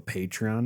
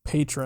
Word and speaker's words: Patreon: We have a Patreon now. A little shameless plug for Holy shit, he everybody. said it right for the first time. Wait, how has he been saying it in the past? Patron.